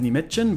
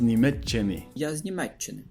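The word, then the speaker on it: Німеччини: "I'm from Germany", I was hearing 'Ya z Nimechchyn' But it's actually 'Ya z Nimechchyny' [BigBong listens and repeats the sentence] "Germany" is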